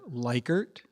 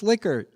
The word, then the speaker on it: Likert: the community the research community you'll hear people pronounce that word Likert but you see I'm so far advanced intellectually